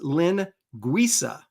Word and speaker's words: linguiça: It's pronounced linguiça.